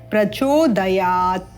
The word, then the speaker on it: प्रचोदयात: इस प्रकार से और यहां पर आप देखते हैं ये जो न है न के बाद आधा प है विसर्ग के उपरांत तो नह प्रचोदयात इस आधे प को भी उच्चारण करना है धियो जोन प्रचोदयात इस प्रकार से तो आइए इन